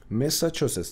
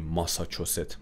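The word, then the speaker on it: Massachusetts: خب مساچوستس تلفظش رو دقت کنید، مساچوستس. ما میگیم ماساچوست، ماساچوست نیست. خب ما یه جور میگیم که راحت باشه واسمون، ماساچوست نداریم، مساچوستس.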